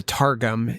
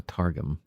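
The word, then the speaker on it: Targum: more stuff about the tarum how would you spell it so I actually uh t a r g m nice like a mixture of tar and gum and sorgum oh sorum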